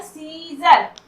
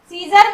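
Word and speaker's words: Caesar: यहाँ पर देखिए, यहाँ पर सीजर, सीजर में यहाँ पर ए का उच्चारण हम लोगों ने नहीं किया।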